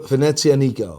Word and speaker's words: Venezianico: Venezia Nico. As in Venice Nico? Yeah, exactly.